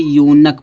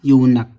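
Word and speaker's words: eunuch: जैसे यहाँ दिया, जब किसी वर्ड में ई से यू जुड़ा हो तो ई यू का उच्चारण यू होता है। जैसे यहाँ दिया है यू से क्या जुड़ा है, नक, एन यू से नक जुड़ा है। इसको क्या पढ़ेंगे, यूनक पढ़ेंगे।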